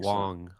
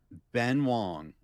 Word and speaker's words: Ben Wang: the um Yeah, I thought he was pronounces it as Wong. I've seen Yeah, he he introduces himself as Wong and I know it's like phonetically it looks like Wang, right? Um Ben Wong uh I thought was uh great.